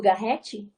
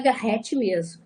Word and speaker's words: Garrett: Tem uma tendência de chamar Garret e etc. A gente faz um afrancesamento do nome do Garrett. Mas ele mesmo diz assim, escrevo com 2 T's para que se pronuncie pelo menos um. Então é Garrett mesmo, tá?